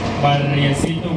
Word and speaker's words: Barriecito: Barriecito with R's. Can you say that, please? Barriecito. Exactly. Roll your R's.